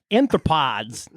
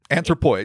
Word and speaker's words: anthropoids: Amphibious anthropods. Nope. Anthropoids.